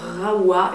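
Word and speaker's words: Rahua: C'est l'après-shampoing Rawa, et donc maintenant je sais que ça se dit Rawa parce que j'ai eu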